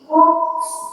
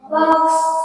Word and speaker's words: books: Cici is growing books in the library. Tadi bacanya seperti apa? Box. Box. Jadi bukan box ya, tapi books. Oke. Books, bukan box.